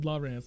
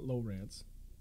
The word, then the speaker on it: Lowrance: It's pronounced LaRance, not LoRance. LaRance.